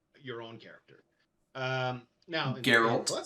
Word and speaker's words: Geralt: Now Geralt. Salt. That's a hard G. Did I not say Geralt?